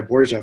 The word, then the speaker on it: Borja: It's Borja is the official pronunciation. I actually went by Borja for most of my young life. And then I got into high school and realized that my last name is actually a Spanish origin because I'm Filipino. And so I realized that the proper pronunciation was Borja.